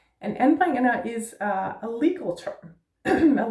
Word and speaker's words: anbringender: So the first syllable is en with a flat A.